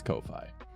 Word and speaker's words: Ko-fi: I know it's coffee, but Ko-Fi, because like lo-fi and hi-fi, it's spelled the same, but with a K, so it's Ko-Fi.